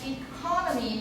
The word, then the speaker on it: economy: So economy, I mentioned this because many of our students' pronunciation of this are wrong. 好多人都念错。Economy 不清不楚的。这是在第二音节 economy。Economy. But economy means that Taiwan is an economy.